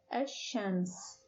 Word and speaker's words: ash-shams: Shams is nakira, and when we add alif and lam at the beginning of shams, it becomes ash-shams. Ash-shams. Please notice that the pronunciation of the lam in the article has changed.